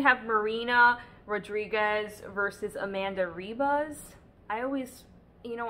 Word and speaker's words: Ribas: I always, you know, I've heard people say her last name with like an H. I don't know if like, I think in Brazil, right, they don't pronounce the R, they pronounce it as an H.